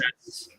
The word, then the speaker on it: Borges: I'm gonna Google the name real quick, but I still won't be able to pronounce it right. It's Jorge Luis Borges. How you Borges. say it? It's Borges? Borges.